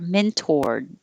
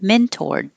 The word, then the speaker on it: mentored: i learned that the more common pronunciation is with an or mentored and i'm not going to say the d mentored i'm just going to hold my tongue in the d position mentored but my whole life i've been saying it the possible but less common way with an er mentored mentored which does sound like men turd and 12 bird bird